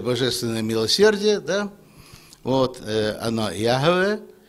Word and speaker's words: Яхве: Ну, я думаю, Яхве, но не Иегова. Иегова – это не так.